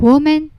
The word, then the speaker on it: woman: ပဲဒါပေမယ့်သူကနှစ်ခန်းမဝိုင်းတော့ဘူးနှုတ်ခမ်းမဝိုင်းဘဲတချို့တစ်ယောက်ကိုတွေ့ရင်ရယ်ပြတယ်မလားအဲ့လိုနှုတ်ခမ်းကမဝိုင်းတော့ဘဲနဲ့ဘေးကိုကားသွားတာပေါ့နော်အလယ်လျှာကိုအပေါ်အာကောင်မှပဲကပ်ပြီး ပြီးထွက်ရတယ်။ it ဆို women women women မတူဘူးနော်။ရှင်ပြီးထွက်ကြည့်မယ်နော်။ woman women woman women နှုတ်ခမ်းဝိုင်းတာမဝိုင်းတာကွာတယ်ပေါ့နော်။အဲ့တော့ sentence တွေမှာဒါတချို့တစ်လုံးချင်းစီရဲ့ထုတ်ကိုကွဲသွားပြီဆို sentence တွေမှာထည့်ပြီးတော့ထွက်ကြည့်မယ်နော်။ I saw a woman.